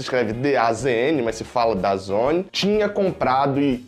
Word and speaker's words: DAZN: E a Conmebol anuncia que a plataforma de streaming DAZN, na verdade se escreve DAZN, mas se fala DAZN, tinha comprado e era a única detentora a